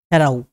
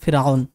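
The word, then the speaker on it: فرعون: ফিরআউন বলতে কোনো এক ব্যক্তি নয়, যেটাকে ইংরেজিতে বা বাংলাতেও আমরা পড়ি ফেরাও। তো সেই ফেরাও সেটা আরবি উচ্চারণে ফিরআউন।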